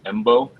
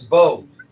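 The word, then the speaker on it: Mbow: No, no, he's talking about Marcus Bo from Purdue. Oh, the M em M is silent. It's Marcus Bo from Purdue.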